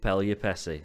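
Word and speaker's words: Pelupessy: Lionel Messi rhymes with Pelupessi.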